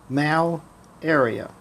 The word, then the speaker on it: malaria: know what is it say it malaria say it in two syllables mal area now what is it